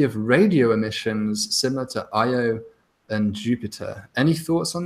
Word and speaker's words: Io: it just happened with IO or yo depending on how you pronounce it this is because of